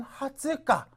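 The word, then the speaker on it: 二十日: 같아요 20세라고 그럴 때는 하다지 21일이라고 할 때는 하츠가 그다음에 또 1일이라고 할 때는 뭡니까 후주가 아닙니까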